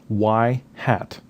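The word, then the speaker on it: ŷ: looks like this now the Y with the little thing on top is pronounced y hat and it is the point estimator of the expected value of y so y hat is the mean value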